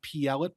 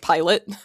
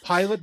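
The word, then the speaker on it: Pielet: at what was it Plet Brothers Scrapyard. Yeah, it was it's it's I weirdly it's actually pronounced Pilot. So Silver Pilot went to Pilot Bros Scrapyard. Pilot Brothers Scrapyard which scrapped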